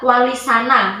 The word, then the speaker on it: Wali Sana: serupa dengan kata terpuji, sehingga menurutnya pengucapan yang benar adalah wali sana, yang berarti wali-wali yang terpuji.